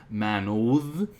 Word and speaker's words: manod: have Monat, Manod, and we do have a th version, but by this time it would be likely pronounced as Manod, a voiced th to simplify that sound.